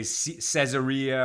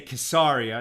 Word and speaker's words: Caesarea: and it's in hebrew it's spelled quesari right so we print out we call it kasaria some people look at that and they say well it's spelled like like caesar with an ea at the end and so some people say caesarea or cesaria uh but i think it's better to say kissaria and that's what they